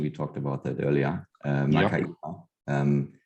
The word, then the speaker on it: Makaira: So first of all, perfect pronunciation. We talked about that earlier. Makaira.